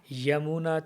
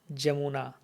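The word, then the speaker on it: যমুনা: Others will say Yamuna Tira, but Bengalis will say Jamuna. So if you speak Bengali, then better try to pronounce like Bengalis, Jamuna.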